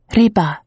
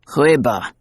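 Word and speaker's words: рыба: You English always make the R so far back in your throat as if you are growling. Say it against your teeth. Reba. Reba, he said obediently, eliciting another laugh from her.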